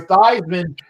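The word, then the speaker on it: Theismann: joe montana and joe thiesman when he was there who changed his name the heisman or theism to rhyme with heisman that's true by the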